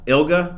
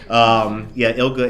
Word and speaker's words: ILGA: Yes, we call it ILGA. ILGA? Okay. Yeah, hard G. Yeah. ILGA. ILGA is a beast.